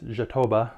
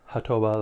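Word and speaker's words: jatobá: It's jatoba, not jatoba, like if it were Spanish.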